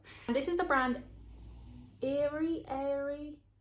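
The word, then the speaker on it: Aery: And this is the brand Airy. It's spelled A-E-R-Y.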